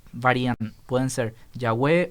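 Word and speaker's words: Yahweh: hay evidencias para yagüe por la pronunciación de la forma corta en algunos salmos tenemos la palabra aleluya y hal él es alabar y ya es jehová entonces ya es como la forma breve de jehová sí entonces esa esa pronunciación de la forma corta nos da un indicio fonético de que la primera sílaba estaba compuesta por una y de hecho el sonido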